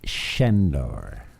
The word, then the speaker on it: Sandor: It's spelt Sandor, but it's Sandor.